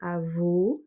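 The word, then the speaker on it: avô: Pour grand-père, c'est avo, et pour grand-mère, c'est avo ouvert.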